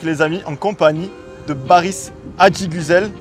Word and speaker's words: Baris Adiguzel: Solide comme Solide Mike les amis en compagnie de Baris Adigusel. Est-ce que je l'ai bien prononcé ? Très bien prononcé.